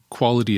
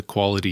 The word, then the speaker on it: QALY: this idea of a quality adjusted life year what's what's called a quali or at least that's the pronunciation that I've I've chosen to give it it's it's kind